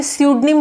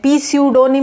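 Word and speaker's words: pseudonym: O Henry is द स्यूडोनिम ऑफ, देखिए इसमें स्यूडोनिम बोला है मैंने, पी स्यूडोनिम नहीं बोला, पी साइलेंट रहेगा।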